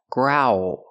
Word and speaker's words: growl: the word grow growl the word is pronounced growl growl so what's the difference well when I say growl you see that the mouth makes this position ooh oo grow ooh growl then you go to